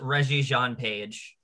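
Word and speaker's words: Regé-Jean Page: for season two and sorry if i missed pronounce that kevin who is reggie john page yep that's it reggie john pete all right uh let's do what's trending 600.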